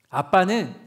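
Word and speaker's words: ἀββα: 어떻게 쓰냐면 알파 베타 베타 알파 그러면 그게 아 빠라고 발음해요.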